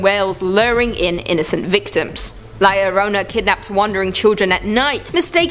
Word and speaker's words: La Llorona: Hailing from Hispanic folklore, La Llorona, which I'm pronouncing correctly now after you guys yelled at me in a previous video, is also known as the Wailing Woman or even the Crier.